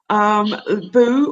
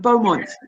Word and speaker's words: Beaumont: me today yeah absolutely most people get my last name wrong they spell they pronounce it boo or bow or but you got it right first time Beaumont yeah Jennifer but White's